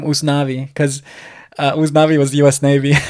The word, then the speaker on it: Usnavi: And of course, Spanish pronunciation turns out to be Usnavi, Yeah.